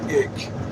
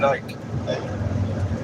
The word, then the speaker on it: Icke: I like the way you pronounced his last name. Ick. His name's David Icke.